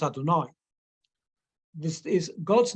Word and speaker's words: Adonai: For the first time in the book of Shemot, the four-letter name of God, the word Yud-Kei Vav-Kei, the word that we pronounce Adonai, this is God's name,